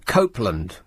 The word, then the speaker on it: Copeland: Yesterday the council uh Copeland in can you believe that the first syllable is cope when they seem to be coping so very poorly?